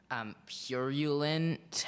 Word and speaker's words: purulent: Obduracy, am I pronouncing it correctly? Obduracy. Obduracy. O-B-D-U-R-A-C-Y. Correct. Number 73, Kevin. Your word is purulent. Purulent.